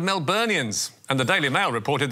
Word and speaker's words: Melburnians: Yes, Anthony Albanese said Melbournians instead of Melburnians.